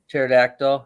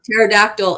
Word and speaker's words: pterodactyl: Pterodactyl. Pterodactyl. Yeah, that was on. The P is silent.